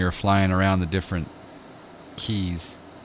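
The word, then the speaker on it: cay: flying around the different keys they kept saying K and I'm like no it's key its key its key it's well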